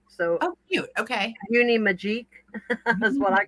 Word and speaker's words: Uni Magique: It's Uni Magic, but it's spelled M A G I Q U. So Oh, cute. Okay. Uni Magique.